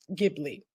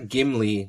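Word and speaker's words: Ghibli: perfect all right for the record it is pronounced gibli yes it is GI Okay g it is GI not gimly not the dwarf no not the dwarf G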